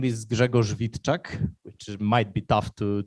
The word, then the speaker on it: Grzegorz Witczak: and and stuff yeah so my name is gregor vitchak which might be tough to to pronounce so you can just call me greg